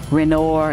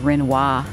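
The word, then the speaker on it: Renoir: the streets are mispronounced you may hear somebody say Monet instead of Monet or uh renor instead of renois so we want to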